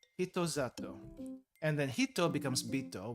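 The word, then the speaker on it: 人里: Hito-sato, I think? No. Zato. Another weird thing with pronunciation. Sa becomes za, and the su becomes elongated. So, zato. Zato. Hito-zato.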